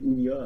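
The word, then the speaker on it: Hunnia: Elle est fondée, excusez-moi si je prononce mal, c'est Unia à mon avis.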